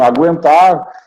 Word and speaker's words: aguentar: não temos mais tremas frequente tranquilo não é tranquilo né é tranquilo mesmo você segue pronunciando aguentar saguir Então essas palavras seguem com a mesma pronúncia só que não aparece mais a figura do tremar tá foi uma acento